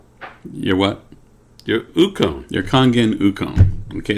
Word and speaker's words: Kangen: are wondering what kangan is that's because we pronounce it kangen and you pronounce it cajun or kangen or something weird okay and the